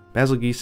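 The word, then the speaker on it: Bazelgeuse: a tempered basil geese basil geese is how my friend at Capcom says it is pronounced so hopefully that is kind of official but I don't think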